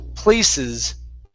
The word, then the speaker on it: places: Okay, right here, make sure to pronounce that S at the end. The word is places.